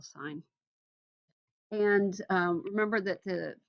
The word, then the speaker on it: sine: and so is for sine it is spelled this way the abbreviation is like s-i-n but please don't call it sin it's still sine and um remember that